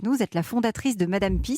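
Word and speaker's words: madame Pee: est la fondatrice de madame pis ça s'écrit pee je précise c'est une urinoirs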